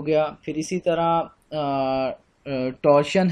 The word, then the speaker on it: torsion: basically वो कहलाता है टॉरियन, TORSION, टॉरियन या टॉर्शन, ये मुख्तलिफ इसकी प्रोनाउंसिएशंस हैं, तो टॉर्शन आमतौर पे कॉमन यूज़ होता है, तो ये जो